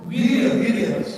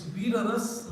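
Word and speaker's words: Vīrarasa: Viryaras, yes. So my knowledge says it's Viraras, not Viryaras.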